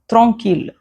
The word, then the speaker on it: tranquille: The exceptions are ville mille tranquille Again, ville mille tranquille Now, here comes the letter R.